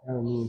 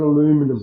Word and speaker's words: aluminium: It actually takes over from just being straight white aluminium sheet. Aluminium, not aluminum.